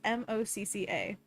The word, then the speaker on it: MoCCA: She was doing a zine, I believe, for Maca Fest, which I always called or no, I call it Maca. She called it Mocha. Do you guys know what the pronunciation of it is? It's Mocca.